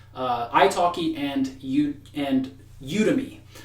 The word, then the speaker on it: Udemy: talkie and you and you to me or some people might pronounce it ooh to me so you to me